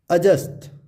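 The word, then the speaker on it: adjust: हो, और यहाँ है डी के बाद जे हो तो डी प्राय साइलेंट हो जाता है, अर्थात डी की आवाज़ नहीं आती है। चलिए एग्जाम्पल से समझते हैं। एडजस्ट, इट्स नॉट एडजस्ट, इसको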